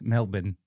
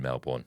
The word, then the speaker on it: Melbourne: as Australian listeners always keep reminding us, it's Melbourne. Yes, it's never been Melbourne. Melbourne. Hey, it's spelled Melbourne, just like Bournemouth.